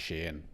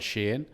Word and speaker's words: Shein: It's actually Shein. I said Shein because everyone calls it Shein, but it's actually Shein.